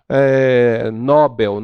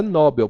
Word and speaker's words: Nobel: algumas pessoas costumam falar Nobel não é Nobel Porque se ela fosse Nobel ela seria uma paroxítona logo ela estaria acentuadas